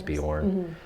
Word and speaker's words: Beorn: I think it is pronounced Beorn in the movies, but I grew up reading the book before the movies ever came out, so in my head it was always Bjorn.